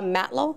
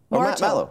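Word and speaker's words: Martow: and Conservative MPP Gila Matlow, is that how I say her name? Marto, I think it is. Marto. No, you're right, Marto.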